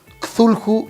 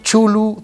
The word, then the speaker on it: Cthulhu: Ustedes pueden ver ahí a Cthulhu, Chulu, Tulu, como quieran pronunciarlo, de Lovecraft, o Cthulhu.